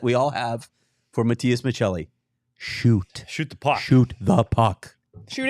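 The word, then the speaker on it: Maccelli: nominees for this award Matias Michelli I have to say it like that I know you're not from Italy um Dylan Gunther and Corel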